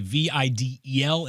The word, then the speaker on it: Vidal: Think of it as a Videl as opposed to AL, and it helped me.